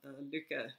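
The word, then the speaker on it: Lykke: purchased a set of dukkha needles and that is the proper pronunciation close enough because it means happiness and Danish and Norwegian or happy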